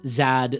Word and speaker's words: Z: There was actually a surprising amount of competing pronunciations of this letter throughout English history including zed zad zard ezed eodizard and uzard. In fact, a 1775 dictionary of the English language suggested that the more popular pronunciation of zed at the time was actually isard.